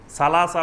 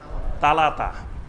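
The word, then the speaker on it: ثلاثة: অঞ্চলের ভাষা আছে তো অনেক অঞ্চলে সা অক্ষর থেকে তারা তা উচ্চারণ করে অর্থাৎ এসনান বলবে না বলবে এতন সালাসা বলবে না বলবে তালাতা সামানিয়া আট হলো সামানিয়া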